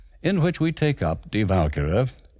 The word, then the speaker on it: Die Walküre: which we take up Die Walküre, which is how Wagner pronounced it with the accent on the first syllable.